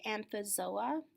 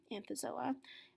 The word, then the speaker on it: Anthozoa: corals and these are in the class it's pronounced anthozoa anthozoa and corals and sea enemies are in this